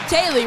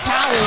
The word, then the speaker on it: Talley: I'm pronouncing that one right. Taylor, right? Daryl Talley. Tally, okay, my bad.